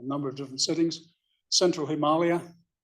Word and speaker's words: Himalaya: Central Himalaya, I'm not being pretentious, that's how you pronounce it, Himalaya, in the state of Uttarakhand.